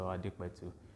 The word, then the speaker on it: Adepetu: My name is pronounced. I'm Dr. Adepetu.